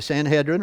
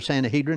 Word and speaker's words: Sanhedrin: in the New Testament, the Sanhedrin or Sanhedrin, depending on how you like to pronounce it. Sanhedrin is probably the right way because that's the way I pronounce it. So that's close enough.